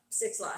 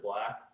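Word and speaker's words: 6lack: 6 Lack. 6 Lack. I think you just pronounce it Black.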